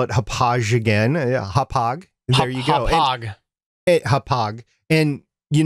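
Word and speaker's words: Hauppauge: i want to hear this gentlemen the correct pronunciation for hophog new york is hophog wow i i didn't catch it the first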